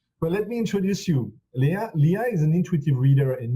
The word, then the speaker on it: Lea: Is the pronunciation of your name right, Lea Morrison? Yes, very good. Yeah, it's Lea.